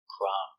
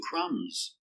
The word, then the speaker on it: crumb: Remember, no B sound, crumb. It's countable. 1 crumb, 2 crumbs.